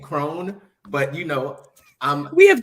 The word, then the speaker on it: Cron: Speaking of Lisa, you call Lisa Cron. That's how you say it. I think so. I've been saying Crone, but you know, we have different perspectives.